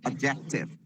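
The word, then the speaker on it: adjective: ढंग से किया करें इसमें डी साइलेंट होता है इसको एडजेक्टिव नहीं बोलना है एडजेक्टिव एडजेक्टिव डी is silent इसे हिंदी में विशेषण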